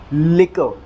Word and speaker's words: liquor: transcription देख लेते हैं देखिए शब्द स्ट्रेस की जो पोजीशन है वो लव वाली साउंड के ऊपर है इसका मतलब अपने को स्ट्रेस जो है वो लव वाली साउंड के ऊपर देना है और जब ऐसा होगा तो इसे हम प्रोनाउंस करेंगे लिकर लिकर लिकर और ये जो है